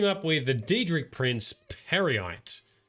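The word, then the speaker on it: Peryite: with the dedri prince parite dri Prince is probably the cor the correct pronunciation first we're going to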